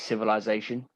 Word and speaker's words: civilization: This is Civilization. Emphasis on the middle syllable, by the way.